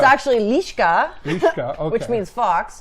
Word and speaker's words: Liska: Well, it's actually Liska.